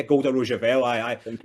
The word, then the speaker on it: Golda Rosheuvel: But you also have Nick Frost and Golda Rosheuvel, if I'm pronouncing her name correctly. Yeah, Golda Rosheuvel.